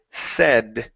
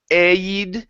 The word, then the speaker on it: said: Okay, next one here is the word said. This is a short E sound instead of aid, said. It's said, Pavel.